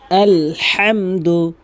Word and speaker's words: আলহামদু: আলহামদু। আলহামদু কখনোই আলহামদু বলবেন না। নামাজ হবে না। আলহামদু এভাবে চাপ দিয়ে বলবেন। হা বারবার উচ্চারণ করবেন। হা আলহামদু আলহামদু লিল্লাহি আলহামদুলিল্লাহি লিল্লাহি রব্বিল আলামিন